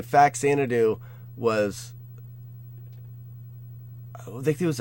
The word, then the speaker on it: Faxanadu: And I think that's where people call it Fazanadu, because the X can be pronounced as a Z, and it was a lot of times in like old NES games.